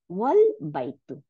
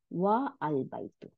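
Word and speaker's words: وَالْبَيْتُ: Here the a is pronounced, but if it is preceded by wa, meaning and, the a is dropped and the phrase is pronounced wal baitu, not wa al baitu.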